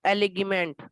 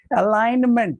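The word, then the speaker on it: alignment: अलाइनमेंट, इट इज नॉट एलिगमेंट. अलाइनमेंट, ji silent, जी यहाँ पे silent है, जी का कोई प्रोनाउंसिएशन नहीं होता है.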